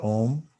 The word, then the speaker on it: Om: On the next 2 mantras, close your lips when you pronounce the M in Om and really feel your voice box working.